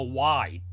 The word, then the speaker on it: wye: and we have a y wy e pronounced Y hookup which is the newer